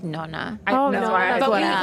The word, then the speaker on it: nonna: Nana. Yeah. That's the Italian way of saying I think grandmother. people actually like the real Italian is like nonna.